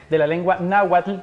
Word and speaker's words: náhuatl: Y vamos a hablar precisamente de la influencia de la lengua náhuatl, que es la pronunciación correcta, y también cómo ha ido esto influyendo para la construcción de una identidad.